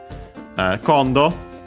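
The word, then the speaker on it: 今度: Kondo. As we have seen, I think I mentioned it at least once before. Accent on the first mora is a Chinese compound of that kind when it comes to the accent.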